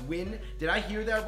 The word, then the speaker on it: Nguyen: Win is pronounced Win.